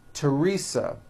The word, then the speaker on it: Teresa: like to point out although these next words and names are spelled with a th they are pronounced as if they were spelled with a normal T TT like that and